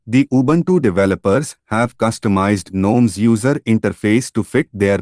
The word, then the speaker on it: GNOME: Gnome stands for no object model environment. Properly pronounced gnome.